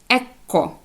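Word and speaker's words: ecco: нижче опустіться і тоді вона буде читатися як Екко подвоєння букви к ЕКО в перекладі Ось бачите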